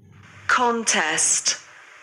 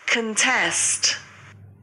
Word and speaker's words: contest: contest, contest, एक बार फिर सुनिए।